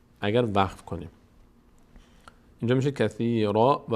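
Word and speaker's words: كثيراً ويهدي: که حرف بعدیش هست میشه کثیراو کثیراو و یهدی اینجا که دیگه نمیگیم کثیراً به جای نون واو تلفظ می‌کنیم تا مشابه پیدا کنه به حرف بعدیش به خاطر قاعده ادغام در یرملون کثیرا و یهدی بهی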